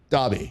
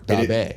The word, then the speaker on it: Daube: Daube, right? Or Daube. Perfect. What? Perfect. Daube.